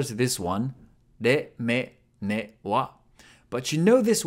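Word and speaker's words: ね: Ne. Ne is pronounced like ne in Nelly.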